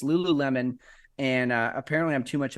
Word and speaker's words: Lululemon: Yeah, that's how you pronounce that. Lululemon.